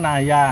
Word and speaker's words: Naja: Cina mid in ini Naja bacanya Naya oh nay Naya spri